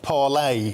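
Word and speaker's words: Parler: so this is um Paula parlay for the French pronunciation so there's nothing more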